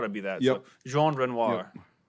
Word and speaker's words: Renoir: down behind the trenches this week with Gene renors oh God what is it again John what spell it out r-e-n-o-i-r-s Renoir so just literally no like yeah I